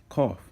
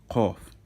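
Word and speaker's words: קוף: because you know it's Kof. You also pronounce that in the back of your throat, with the root of your tongue at the back of your throat. So cough. It's like a strong K.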